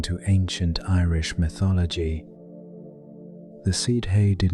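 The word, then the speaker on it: sídhe: And in those thin places lived the seed hay pronounced more or less as she.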